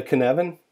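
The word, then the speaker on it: Cynefin: The Cinnevin, even though it's spelled Cinnevin, it's a Scottish word.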